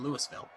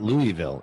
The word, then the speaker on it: Louisville: joking with him as we were trying to pronounce things obviously in louisville it's not louisville and it's not louisville it's louisville and they'll they'll get on you